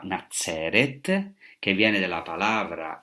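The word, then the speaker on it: נצרת: Hoy sabemos que Nazaret en hebreo se pronunciaba Nazeret, que viene de la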